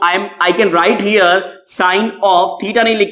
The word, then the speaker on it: sine: कुछ गलती से इसको सिन भी बोल देते हैं। क्या बोल देते हैं? सिन। सिन गलत प्रोनाउंसिएशन है, सही प्रोनाउंसिएशन क्या है? साइन होता है।